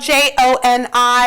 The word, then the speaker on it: Joni: Although her name is spelled Joni, she refers to it as Joni because she was named after her dad.